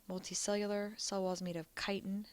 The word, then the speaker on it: chitin: pond organisms fungi multicellular cell walls made of chitin it's pronounced chitin and they're all heterotrophic plants multicellular but they're